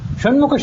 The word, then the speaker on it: ಷಣ್ಮುಖ: ಗಮನಿಸರಿ ಶಂಕರ ಇದು ಷಣ್ಮುಖ ಶಂಕರ ಶಿ ತಾಲುವಿನಿಂದ ಹುಟ್ಟಿದ ಶಕಾರ ಷಣ್ಮುಖ ಇದು ಮೂರ್ಧದಿಂದ ಹುಟ್ಟಿದ್ದು ಈಗ ಇವೆರಡು ವ್ಯತ್ಯಾಸ ಗೊತ್ತಿಲ್ದೆ